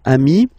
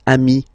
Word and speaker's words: ami: So singular form, ami. Plural form, you add this S, but it's ami as well.